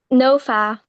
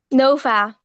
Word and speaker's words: Noa: all right so who we on here with NOA no oh okay so I did say right Bond and what's your name Nova oh can you spell that I don't know